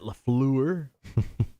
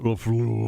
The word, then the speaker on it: LaFleur: How the coach, Matt LaFleur, wants to ban the wave. That's how actually his name is pronounced. If you say it LaFleur, you're a dickhead. You got to say it LaFleur.